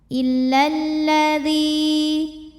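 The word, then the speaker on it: إِلَّا الَّذِي: Lam yang sukun tidak dibaca sehingga kita langsung masuk ke lam kedua ya. Jadi lamnya pendek. Illalladzi. Nah, jadi bacanya masuk maksudnya ya. Bacanya masuk ke lam berikutnya.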